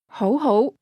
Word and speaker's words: 好好: Ho ho. Ho ho. Did you hear the two rising tones?